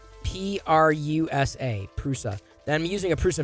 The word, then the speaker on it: Prusa: do you spell it perusa no prusa p-r-u-s-a prusa i'm using a